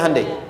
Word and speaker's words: Hyundai: bikin Honda sini hundai Hyundai kan dibacanya hundai ya kan sana Honda sini